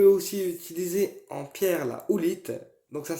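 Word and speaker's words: howlite: débordement on peut aussi utiliser en pierre la oulite donc ça s'écrit h o W l i T e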